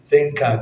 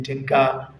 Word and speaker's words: thinker: So you should say thinker. Do not say tinker or sinker.